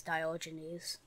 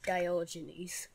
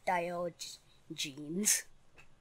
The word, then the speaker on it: Diogenes: Yeah, his name is Diogenes. That's how you pronounce it. Diogenes. Not Diogenes.